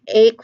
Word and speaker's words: ache: Take ache, for example, under silent H, the first word there, that ch sound there, the middle sound, like and the H is just there, like H is not enunciated, H is not pronounced.